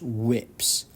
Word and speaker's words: WPS: as worldwide Protective Services also known as whips which is pronounced whips is a program through